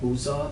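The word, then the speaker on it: Busza: She was born in a small town called Buzza. It's spelled B U S Z A S Z A.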